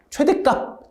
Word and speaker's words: 최댓값: 발음 어떻게 하세요? 최댓값. 최댓값 이렇게 하잖아.